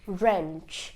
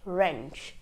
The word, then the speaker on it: wrench: W so the number W is followed by an R the W becomes silent so a few examples would be right right wrap wrap wrench wrench okay so that was